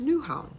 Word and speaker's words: Nyhavn: actually read as Nyhavn, I guess, but it's pronounced Nyhavn.